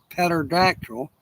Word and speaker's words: pterodactyl: Why can you not hear a pterodactyl go to the bathroom? Pterodactyl go to the bathroom because the P is silent.